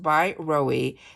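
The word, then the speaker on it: BYROE: that I'm loving it's b y r OE that is pronounced by Roy this is the pump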